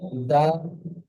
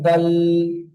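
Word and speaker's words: دال: জি, দাল, জাল। জি, আমি বলেছিলাম, আল। জি, আমি যখন পড়িয়েছিলাম, আমি তখন আপনাদেরকে বলেছিলাম যে এই অক্ষরগুলি কেমন উচ্চারণ হবে। অনেক ভাই পড়েন দাল, জাল, এমনটি উচ্চারণ আপনারা করবেন না, এটা ভুল উচ্চারণ।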